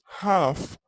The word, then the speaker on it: half: فهنا نفس الفكرة، ما حقول 30 past 5، حقول it's half past 5. مضى من الوقت نصف ساعة، حقول it's half. طبعا هنا ال تكتب ولا تنطق.